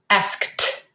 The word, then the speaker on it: asked: comes up a lot it's a voiceless sound so you need to say it with a t asked let's practice asked asked